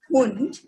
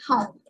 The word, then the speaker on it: Hund: And the word is hund. So don't go on the pronunciation so much that you cannot say it hound. It should be hund only. Her sound will remain her only. It cannot be hound.